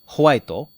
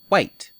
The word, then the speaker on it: white: Did you say howaito or white? Howaito is the way we say it in Japanese as a loan word, but the ho sound at the beginning is very old-fashioned.